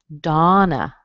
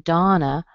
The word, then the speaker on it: Donna: Donna does that. The O in Donna usually sounds like ah, as in father.